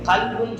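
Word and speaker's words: قلب: அதுல உச்சரிப்பு கல்பு காப் அப்படின்னு கொஞ்சம் தொண்டையில இருந்து சொல்லணும். காப் 2 காப் நீங்க பார்த்திருக்க கூடும். அதுல கல்பு உள்ளம் சொல்றதுக்கு புள்ளி வச்ச காப் போடணும், நாயும் சொல்றதுக்கு புள்ளி வைக்காத காப்பு.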